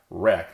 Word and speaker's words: REC: Recursion is developing the medicine REC 94, pronounced REC, like W-R-E-K 94, to treat cavernous angiomas, and they are supporting and developing of the CCM Health Index.